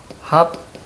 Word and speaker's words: 합정: 자, 합정 이렇게 나와 있는데 자, 이것은 나중에 우리가 된 소리 되기라고 배울 거예요. 그래서 합죠. 이렇게 해 줘야 됩니다.